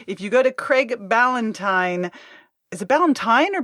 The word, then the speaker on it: Ballantyne: So if you go to Craig Ballantyne, is it Ballantyne or Ballantyne? It's Ballantyne, right? Right, just like a holiday, but with a B and spelled different.